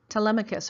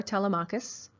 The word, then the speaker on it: Telemachus: So for class, we're going to use these pronunciations: Homer, Athena, Zeus, Telemachus or Telemachus, Penelope, Athena, and she will appear in the